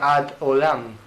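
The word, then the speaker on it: עד עולם: Hasta siempre es una expresión hebrea que se pronuncia ad olam, hasta siempre.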